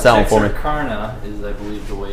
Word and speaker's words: Texarkana: You're going to have to pronounce that one for me. Texarkana is, I believe, the way it's pronounced.